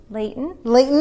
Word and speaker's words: Leighton: Leighton, I yes.